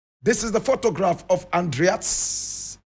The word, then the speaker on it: Andries: This is the photograph of Andries Tatane. Andries Tatane. Andries is spelled A-N-D-R-I-E-S. Some people also pronounce this Andries. Andries.